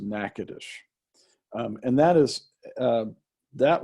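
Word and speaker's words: Natchitoches: day uh area of nakadash and that's that's spelled n a t c h i o t o c h e s spell it sounds pronunciation is nothing like it's spelled it's pronounced nakadash and that is uh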